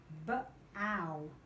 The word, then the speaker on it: bow: B-ow, bow. Does bow rhyme with cat? Does it rhyme with cow? Cow, you can have bow.